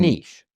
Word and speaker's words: niche: is a little bit niche. Comparatively, yes. Yeah. These days. And Do you mean niche? Niche. Yeah. So yeah, Americans say niche. No way. Did you? I know they add a T.